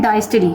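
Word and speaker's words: diastole: हैं सिस्टली और दूसरे को हम कहते हैं डायस्टली। ठीक है ना? या सिस्टोल और डायस्टोल भी इसको कहते हैं। आपकी जैसे प्रोनाउंसिएशन आपको जैसे सही लगती है।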